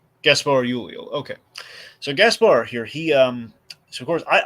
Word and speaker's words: Gaspard Ulliel: Yeah, I think the D would be silent. Oh, I mean, Well- I'm not. Let's see. Yeah, the D is silent. Gaspar Ulio.